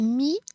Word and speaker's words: mis: Elle a mis son manteau. She put on her coat. Notice here that those final consonants are silent. Mi. Elle a mis son manteau.